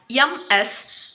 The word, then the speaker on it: Ms.: Lastly, it is Ms., which is spelled as MS, but still it is pronounced as Ms.